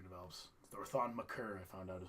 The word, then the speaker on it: Thon Maker: And I'm interested to see how Thon Maker develops. Or Thon Maker, I found out is how you're supposed to pronounce it.